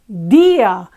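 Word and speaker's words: día: D ah it's Dia however when you listen to the Spanish they don't say yeah they say Dia it's this the weak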